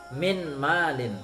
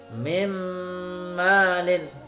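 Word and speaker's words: مِن مَّالٍ: ada warna Hey Dedes bacanya seperti ne mim lalin Hai Meme Nadine tidak boleh minmal in tapi harus Hai Meme nadel seperti itu kemudian yang kedua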